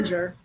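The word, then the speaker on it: Gingher: ginger.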